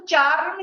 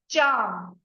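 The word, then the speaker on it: charm: Actually इसको चार रन नहीं पढ़ेंगे। आर साइलेंट होता है। ठीक है? इसको बोलेंगे हम चाम।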